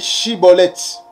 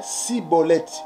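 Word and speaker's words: Shibboleth: Il lui disait alors: eh bien, dis Shiboleth. Et il disait Siboleth.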